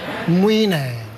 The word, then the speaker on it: Mwine: Mwine.